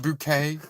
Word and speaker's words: Bucket: Bucket. And she's she's like, "No, no, it's pronounced Bouquet."